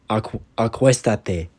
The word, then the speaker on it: Acuéstate: Acuéstate. In the positive, the reflexive is attached at the end, and there's an accent mark on the third syllable.